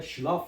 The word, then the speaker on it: Schlaf: birleşmesinden Ç olur şimdi burada s c h bu ü harf birleşirse Ş harfini verir bizdeki Ş harfini s c h mesela buna bir örnek yazalım bunu sileyim önce mesela schlaf yazalım schlaf uyumak demek şf yani bu 3 harf Ne oldu ş ş harfini verdi şf t s